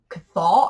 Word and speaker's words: Cthol: It's like Cthulhu. It's the CTH thing. CTHOL. Cathal. I'm just gonna pronounce it Cathal.